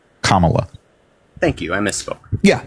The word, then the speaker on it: Kamala: Um, but when you pronounce her name, it's Kamala. Kamala.